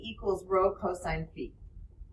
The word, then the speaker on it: phi: all right this symbol right here is called fee and then of course that's theta those are